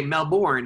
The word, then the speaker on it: Melbourne: unbelievables when you came to Memphis yes in Melbourne I say it right now I do it right all my Americans say Melbourne like Oh Melbourne and they look at you